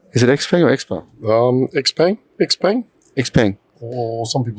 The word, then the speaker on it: Xpeng: Xpeng.